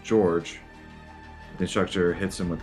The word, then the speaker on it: Jorge: wakes up George 052 pronouncing his name Jorge George tries to tell the instructor's name is pronounced George the instructor hits him